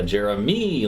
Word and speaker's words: Jeremi: Yeah, Jeremy, like a me. Yeah. There you go. I like it. There you go. Him and his brother Jeremy.